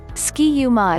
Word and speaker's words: Ski-U-Mah: origins of ski uma ski uma is a catchy slogan that the minnesota coaches came up with in 1884 to rhyme with rah-rah-rah and minsota it originally